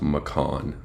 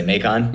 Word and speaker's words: Macan: By the way, Troy, it's pronounced Macan. What did I say? Macon? Yeah.